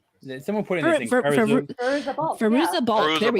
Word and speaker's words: Fairuza Balk: her first Faruka Balk. I can't say it right. Whatever. Someone put in this thing. Fairuza Balk.